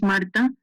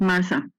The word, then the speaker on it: Marta: Yes, my name is Marta, not Martha. Marta, no H.